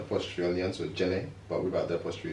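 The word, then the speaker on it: Djenné: Jen. Yeah, silent D, right? yeah. Yeah, because I used to say It's Jen. named after the town in Mali, but it's got an apostrophe on the end, so Jene, but without the apostrophe, it's just Jen.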